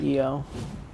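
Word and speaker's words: Io: go to um eo i know it's spelled i o but it they literally pronounce it eo so don't blame me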